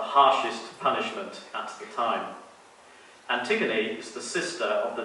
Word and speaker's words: Antigone: of the same name, pronounced Antigone in French.